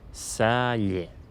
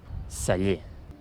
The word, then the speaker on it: celler: I després, en aquesta segona paraula, veieu que tenim dues E: la primera àtona, la segona tònica i diem: celler. Celler.